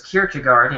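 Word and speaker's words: Kierkegaard: No, I looked it up in uh a sound pronunciation lesson. It was Kirchugard in English. Anyway, anyway, past the pronunciation part. So Saurin Saurin Kirkagard actually wrote uh quite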